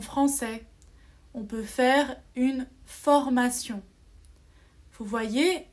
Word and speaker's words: formation: on doit lire sion attention un autre mot formation vous avez la formation une formation c'est comme des cours pour apprendre un travail ou pour améliorer son français on peut faire une formation vous voyez à la fin de formation g